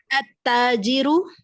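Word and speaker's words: التاجر: At-tajiru, Mhm. the merchant. Read again. At-tajiru. At-tajiru. We are skipping the lam here.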